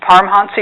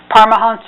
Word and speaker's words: Paramahansa: You will see his name spelled and pronounced in several ways. Some people say Paramahansa Yogananda, some say Paramahansa Yogananda, and there's a